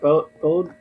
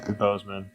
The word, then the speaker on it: Boseman: Chadwick what? Bode? I can't pronounce his name. Boseman. Chadwick Boseman.